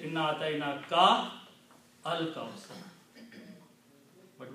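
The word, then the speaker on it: الْكَوْثَر: Kal kausar. Separate it is like inna a'tayna ka al kausar. But when you recite together, you pronounce kal kausar.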